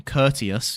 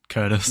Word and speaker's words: Curtius: Curtius is probably how you say it. I was going to say just Curtis.